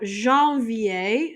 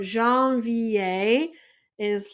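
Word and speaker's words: janvier: in French so that way it helps you pronounce them so with that let's go ahead and start so first off we have Jean VI Jean VI is January so I'm going to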